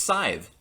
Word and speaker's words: Scythe: That's how you pronounce the word side.